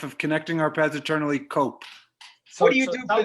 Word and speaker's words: Cope: want to point out the cope rhymes with hope so we're here to